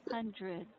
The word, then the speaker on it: hundreds: Don't pronounce this with the short E sound. It Mm-hmm. should be a schwa. Uh-huh. Hundreds.